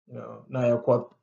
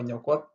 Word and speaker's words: Nyakwat: begin with ny, and it's often mispronounced, and they just go along. They just Naya Mal, Naya Kwat, all names like that, but it's supposed to be Nyamal or Nyakwat.